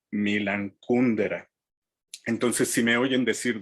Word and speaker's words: Milan Kundera: en su propio país y acentuar el nombre como si fuera grave milán y el apellido como si fuera estructura desde una palabra esdrújula kundera entonces en vez de ser milan kundera ellos lo que dicen es milan kundera entonces si me oyen